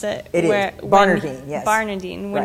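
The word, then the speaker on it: Barnardine: Is that how you pronounce it? It Where, is. Bernardine, yes.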